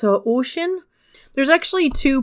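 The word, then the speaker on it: Oisín: up with, and that's Oisin. Both are kind of correct, but if you want to be a little bit more accurate regarding the Irish/Gaelic pronunciation, it is Oisin.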